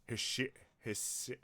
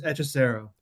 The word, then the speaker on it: Hechicero: How do you pronounce this guy's name? Wait, Hishirisu?